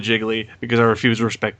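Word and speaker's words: Gigli: yes and I know the film's pronounced geely i call it jiggly because I refuse to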